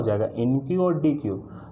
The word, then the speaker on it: deque: बट अगर मैं बात करूँ डबल एंडेड क्यू, तो डबल एंडेड क्यू का जो प्रोनाउंसिएशन होता है वो क्या होता है, डी क्यू।